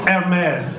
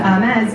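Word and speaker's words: Hermès: Hermes, she told me how to say it as well.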